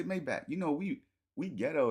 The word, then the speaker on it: Maybach: No, that's how you really say Mayback. You know, we we ghetto and So, we like Maybback. It ain't it ain't Mayback.